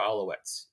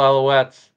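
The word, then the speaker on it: Alouettes: the reigning defending Undisputed gray Cup champion mtra aletes if you're gonna say it say it right please and thank you absolutely my apologies to the reigning defending Montreal aletes uh but Cliffy thank you so much for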